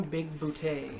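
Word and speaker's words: Bigbooté: Big Booty. Big booties, like it's Boutte. Boutte. And if you see in the credits, there's actually like the little E accent aigu, like.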